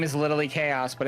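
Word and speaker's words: Khaos: to butcher this cuz his name is literally chaos but it's spelled weird.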